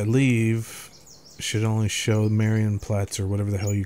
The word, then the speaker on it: Marienplatz: Like if I leave, it should only show Marienplatz or whatever the hell you call the... How do you pronounce that, James?